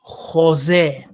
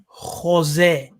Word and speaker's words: Khozeh: Okay, so this word is pronounced Khozeh. Khozeh, yeah, with a G sound. This KH, see that KH? It's pronounced as a G sound.